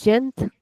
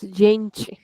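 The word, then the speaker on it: gente: Next word in European it is jent. Whereas in Brazilian it is jench.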